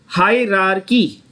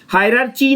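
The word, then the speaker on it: hierarchy: हायरार्की बोलो फिर से, हायरार्की। हायरार्ची नहीं बोलना, मार खाओगे।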